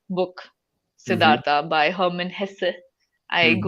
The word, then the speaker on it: Hesse: Siddhartha by Hermann Hesse. I Mm-hmm. googled how to pronounce his last name. Hessa, yeah. Hesse.